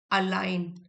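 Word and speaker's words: align: इफ we keep repeating to ourselves that I can improve I can learn I can succeed our actions slowly अलाइन ji silent है।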